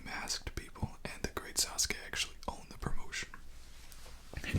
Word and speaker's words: Sasuke: So there's a wrestler, and his name was Sasuke, a Japanese, the great Sasuke, and that's how they pronounce it. We, as English speakers, typically pronounce it Suzuki, but the great Sasuke is a politician now, had a full jumpsuit.